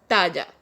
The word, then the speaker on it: talla: Size is known as talla in Spanish. Guys, double L is pronounced as J in Spanish, so size means talla.